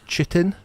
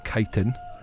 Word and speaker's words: chitin: a lot of people would refer it as chitin because it's written CH. But I did look into it, and it is pronounced chitin.